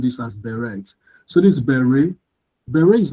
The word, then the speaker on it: beret: I think some of us grew up pronouncing this as beret.